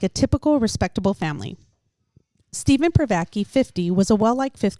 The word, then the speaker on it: Privacky: You know, I'm pretty sure it's Pvaki. That's how I heard it being pronounced.